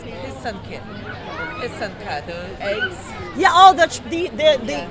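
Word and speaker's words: писанка: Because everybody says pisanke, and they don't learn the way to pronounce it. It's pisanke. Pisanka, the eggs. Yeah, oh, the traditional eggs. Oh, so it's pisanka.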